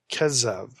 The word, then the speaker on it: Kezev: In Ugaritic, this name would be pronounced Kezev, and it occurs once